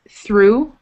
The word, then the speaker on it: through: Then we have the oo sound, like in Liverpool, oo. Through.